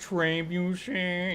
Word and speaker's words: trebuchet: It's pronounced Trebuchet.